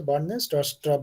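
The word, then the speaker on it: Bjarne Stroustrup: বি বার্নে, যেটাকে যদি বাদ দিয়ে দাও তাহলে প্রোনাউন্সিয়েশন কি হবে? বার্নে হচ্ছে, বার্নে টাস্টাপ বলা হয়, অ্যাট AT&T বেল ল্যাবরেটরিজ।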